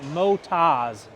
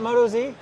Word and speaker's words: Motoz: We're a moto tire company from Australia, Motas. Hey there, Kyle Bradshaw from Chaparral Motorsports, and today we're going to be doing a tire test with the Motas Tractionator GPS tire compared to the Motas Rally tire. Thank you for clearing that up, Brian. Yeah, you're welcome. So it's not Moto Z?